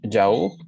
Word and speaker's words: yaourt: Prof, yogur, ça se prononce yaourt?